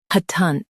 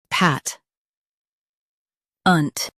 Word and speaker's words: patent: pay tent patent pay tent patent In US, stress pat and keep ent light. In UK, stress pay and soften tent.